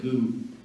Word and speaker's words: Magoo: I'm sorry. So is going to try something with, I beg your pardon? Magoo.